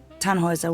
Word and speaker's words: Tannhäuser: We'd pronounce it Tannhäuser with an umlaut.